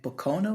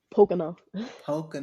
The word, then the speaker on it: Pocono: You say you're in Pocono? Is that how you say it? Pocono.